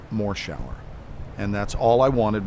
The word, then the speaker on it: Morshower: people read the credits and they then said more shower and that's all i wanted was for them